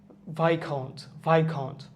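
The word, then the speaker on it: viscount: Debris, as উচ্চারণ হচ্ছে না, কিন্তু ডেব্রি হচ্ছে ডেব্রি। ভাইকাউন্ট হচ্ছে কি একটা ইউকের একটা র্যাঙ্ক, মানে ইউকেতে কোনো সার্টেন পজিশনের ক্ষেত্রে ভাইকাউন্ট কথা ইউজ করা হয়।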